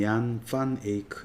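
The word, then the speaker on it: Jan van Eyck: 얀 파네이크는 네덜란드로 쓰면 얀 판 에이크 이렇게 쓰고요.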